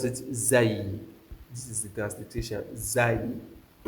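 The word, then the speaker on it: زاي: So, many people say zain. No. So, you pronounce it zay.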